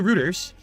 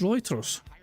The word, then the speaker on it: Reuters: thought it pronounced Reuters am I wrong or is Phil wrong I could have sworn it pronounced writers oh my God and